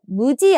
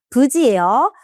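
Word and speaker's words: 無事: 열심히 해서 부지니 자 부지라고 읽는 것도 발음 찾는 문제에서 자주 나오니깐요.요 발음도 체크해 주세요. 무지 아니에요. 부지예요.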